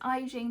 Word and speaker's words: I Jing: here my name is I Jing that is pronounced like Beijing when I this is